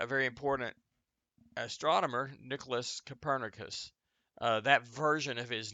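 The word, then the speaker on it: Kopernik: most known by that he was probably uh copernic or something like that would have been how they pronounced his name originally in Polish because he is he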